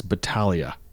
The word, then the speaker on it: Battaglia: with PC where Alex Battaglia has been tested you know you could show a little bit of respect and at least pronounce his name properly it's Alex Battaglia please crap for all